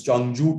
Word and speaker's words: Changzhou: Changzhou, ZH is pronounced J in Chinese. So it's Changzhou to Shanghai and Pudong to airport by maglev.